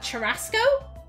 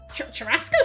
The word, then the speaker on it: churrasco: I don't know how to pronounce that. Churrasco? Churrasco seems maybe right.